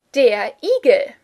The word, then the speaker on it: Igel: Your random word of the week is der Igel. Do hedgehogs even make sounds? Do not confuse this with eagle, which of course just sounds as if you pronounced eagle with an American accent, but, it's a completely different animal.